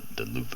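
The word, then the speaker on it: Löwe: the Luva, the low, the L-O-W-E, the Luva is the way it's pronounced, and you have the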